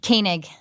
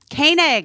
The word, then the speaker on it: Koenig: Koenig. Koenig.